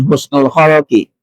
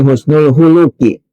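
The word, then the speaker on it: حُسْنُ الْخُلُقِ: Bacanya para santri walaupun ini gundul jangan keliru, jangan husnul khuluqi, ya, tapi husnul khuluqi.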